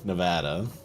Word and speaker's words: Nevada: Not Nevada. Nevada. Dude, no joke. They actually have a sign that says that in the DMV, including the pronunciation. It's not Nevada, it's Nevada.